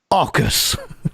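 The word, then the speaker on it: AUKUS: detail the new alliance which will be called augus that's a uk u.s pronounced aucus aw k dash us the three announced they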